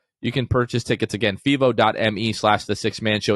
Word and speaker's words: Fevo: that night you can find the tickets at fivo which is spelled f-e-v-o dot me slash the six man